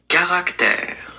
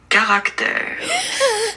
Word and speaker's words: Caractère: All right, hey Google, how do I pronounce C-A-R-A-C-T-E-R-E? Caractère. That's hard to say. Caractère? This is what YouTube says that this is how you pronounce it. Caractère.